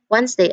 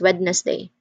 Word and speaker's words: Wednesday: all the time, but that D is totally silent because we do not say Wednesday as Wednesday. It's Wednesday.